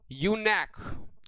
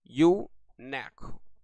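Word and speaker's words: eunuch: चलिए यूनेक यूनेक बोला जाता है भाई। यह यू नेक यूनेक बोला जाता है। इस वर्ड को ध्यान से सुनिएगा भाई। यूनेक बोला जाता है। प्रोनाउंसिएशन मैंने आपको बता दिया।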